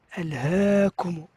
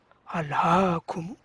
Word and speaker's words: ألهاكم: C'est ce qu'on appelle imala, c'est-à-dire faire un son aigu. Alhaakum. Et on ne dit pas Alhaakum. Non. Alhaakum, c'est une faute de prononciation.